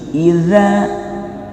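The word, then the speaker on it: إذا: Idza, ujung lidah di gigi, Iza ada za seperti ini, za, dal ada titiknya, za ujung lidah di gigi.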